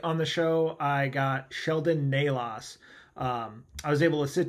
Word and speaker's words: Sheldon Nalos: We are joined tonight by Sheldon Nalos. Did I pronounce that correctly?